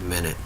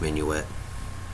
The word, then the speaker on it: minuet: I used to think that was pronounced minute, but it's minuet. That's because it's spelled like minute.